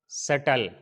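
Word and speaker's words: subtle: अगर टी से पहले बी आए तो क्या होगा, बी साइलेंट होगा। जैसे डेट, डाउट, सटल।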